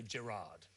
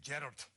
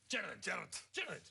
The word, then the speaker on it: Gerard: And in Scotland, they never say Gerard. No, they say Gerard. Gerard. Yeah. I think we should insist on this pronunciation.